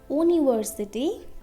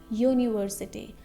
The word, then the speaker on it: university: That is not university, that is university. So the sound is ya. That is a consonant sound. Okay, university, ya. That means letter Y sound.